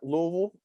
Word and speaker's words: Louisville: So what brought you to Louisville, if I may ask? Did I say it right? Louisville? Louisville.